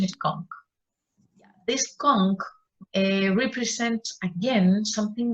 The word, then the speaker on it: conch: we have the introduction of the the calm pronunciation is conch this conch represents again something valuable something expensive